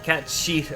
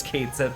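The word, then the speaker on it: Cait Sith: I don't give a damn if they if the the remake calls him cat sheet or whatever because that's a terrible pronunciation of that name. He said Kate. The name is Kate set and I'm sticking with it.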